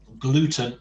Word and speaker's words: gluten: Gluten is a perfect cognate in Spanish, but of course it's pronounced gluten.